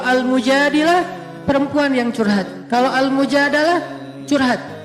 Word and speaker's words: Mujadalah: Kalau Al-Mujadalah, curhat. Jadi tergantung kita bacanya dilah atau dalah. Kalau kita baca Mujadilah, berarti perempuan yang lagi curhat. Kalau kita baca Al-Mujadalah, berarti curhat itu sendiri.